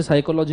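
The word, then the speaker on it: psychology: समझ में आता जैसे साइकोलॉजी में पी साइलेंट है मेरे को प साइकोलॉजी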